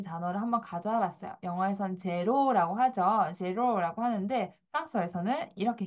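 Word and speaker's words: zéro: 영어에선 제로라고 하죠. 제로라고 하는데 프랑스어에서는 이렇게 읽습니다. 자, 에흐 발음 때문에 이렇게 읽는 거예요.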